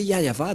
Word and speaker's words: Yahvah: Si vous n'avez pas prononcé Yahva, donc vous êtes des idolâtres.